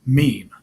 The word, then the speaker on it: meme: m or to it it should be pronounced to rhyme with cream Meme and then and they